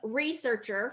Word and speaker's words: researcher: a couple of things researcher first syllable stress research and then we